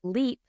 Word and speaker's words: Leap: And we are going to Okay, it is spelled Leap L E A P, but it is pronounced le L E P.